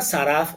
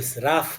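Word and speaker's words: שָׂרַף: La palabra saraf o sraf, que es como se pronuncia raf, que sale, de ella salen dos palabras.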